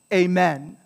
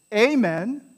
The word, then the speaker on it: amen: end with amen amen so in english it's stressed on the men in latin is stressed